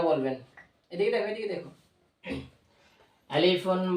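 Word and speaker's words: ألف: যেমন আলিফ, আলিফ উচ্চারণ করার সময় আলিফে কোনো টান হবে না, এটা তাড়াতাড়ি বলে ফেলতে হবে।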